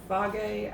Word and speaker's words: Fage: So right now, this is a Fage, I think it's pronounced, and it's one that is lower.